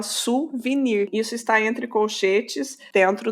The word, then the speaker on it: souvenir: a pronúncia dessa palavra vou te dar um exemplo de uma palavra do francês suvenir permita escrito suvinir né ninguém ninguém fala Souvenir todo mundo fala suvenir isso está entre colchetes